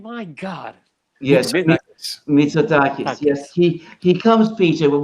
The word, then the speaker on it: Mitsotakis: Yes, Mitsotakis.